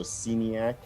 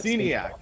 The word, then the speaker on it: Sceniak: your last name uh i usually pronounce it with a harder e so seniac but xenia the common mispronunciation and i don't normally